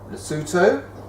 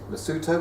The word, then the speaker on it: Lesotho: groups of people that lived in those areas Lesotho Lesotho which is spelled l-e-s-o-t-h-o Pia Swaziland which was a country